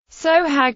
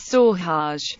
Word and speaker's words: Sohag: sohag suhaag Egyptian Arabic pronunciation so he sohag also known as saw harsh sooo hug and Sue Hodge is a city in